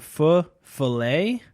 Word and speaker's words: feu follet: Love You Man yeah the full fillet not to be pronounced with a fillet like a steak fo ll ET and